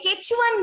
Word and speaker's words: Quechua: Okay, Quechuan name. Yes, this Quechuan. Quechuan, some say the pronunciation is Quechua.